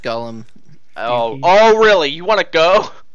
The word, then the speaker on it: Golem: very good with oh mix oh it's not pronounced Gollum what how am I Gollum is a character from Lord of the Rings Golem Golem thank you says says the guy who constantly